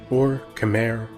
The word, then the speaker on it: Khmer: The fabulously wealthy and powerful Khmer Empire, also known as the Angkor Empire, was based out of the territory which is now modern-day Cambodia. The Khmer, correctly pronounced Khmer, or Khmer in English, are an ancient people